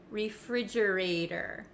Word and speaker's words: refrigerator: it kind of sounds like a soft D sound refrigerator refrigerator refrigerator it's the same as water water we rarely say water in America and we don't often say refrigerator in America we say refrigerator refrigerator refrigerator thanks